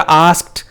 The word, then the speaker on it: asked: इसी तरह आस्क्ड, वो भी आस्क्ड नहीं होता, आस्क्ड ASKED, और इसको भी हम टी की साउंड के साथ पढ़ेंगे.